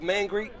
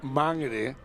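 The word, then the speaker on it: Māngere: know the og's from mangere they often call it mangry but anyway we won't be because that's not the way that the maori word is pronounced number 10 on the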